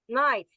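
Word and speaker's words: knight: Also the word night the the the first letter k is silent but it it remains in the word due to the historical orthographic conventions.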